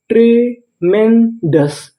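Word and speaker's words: tremendous: अब आपको गौर करना है ओ यूएस पर। ओ यू एस को पढ़ते हैं अस यानी आपको इंग्लिश में कहीं पर ओ यूएस लिखा मिले तो आपको क्या पढ़ना है अस और आगे लिखा है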